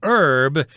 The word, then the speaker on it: herb: And the American pronunciation is herb, whereas in the UK, I think you'll hear herb more often.